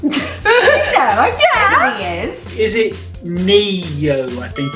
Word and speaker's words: Ne-Yo: Is it Neo? I think it's pronounced Neyo.